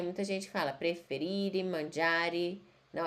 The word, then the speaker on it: mangiare: Uma observação, vocês estão prestando atenção que eu falo preferire, todos os verbos terminam em E e tem que falar a letra E.